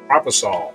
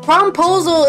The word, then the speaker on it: promposal: a long version no it's PR it's proposal that's how you say it not prosol propol so you say prom